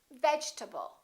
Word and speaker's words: vegetable: your table or vegetable this e disappears and this a is read duced because it's part of the unstressed syllable and we say vegetable vegetable let's look at